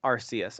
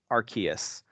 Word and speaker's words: Arceus: Before it was officially revealed, fans began pronouncing it as Arceus early on, which is why it's still a popular pronunciation now.